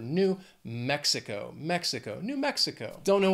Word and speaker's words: New Mexico: Four syllables. Again, the stress is on that first syllable of the second word. New Mexico.